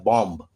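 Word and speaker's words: bomb: उसी प्रकार बॉम्ब, तो ये है तो बॉम्ब लेकिन हम लोग बॉम्ब, देखिए बॉम्ब, बी साइलेंट हो गया।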